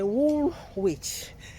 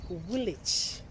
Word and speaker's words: Woolwich: Then you say wool, we used to say wool witch. They say no. We call it woolwich. It's woolwich. You don't pronounce some of the words.